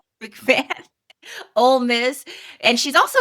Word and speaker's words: McMahon: Sorry, I cannot pronounce it. McMahon.